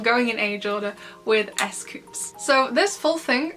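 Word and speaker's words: 에스쿱스: as you can see the first character is not the s consonant the s comes in here and this whole section this is the s part so it's so this is silent this is the s sound this is the s and this is the uh sound so this all together is s like that so it's not just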